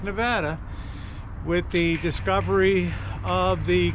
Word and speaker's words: Nevada: After all, that's how Nevada really got put on the map, and that's the way you pronounce it. Don't call it Nevada, it's Nevada, with the discovery of the Comstock lode, and more silver was hauled out of there.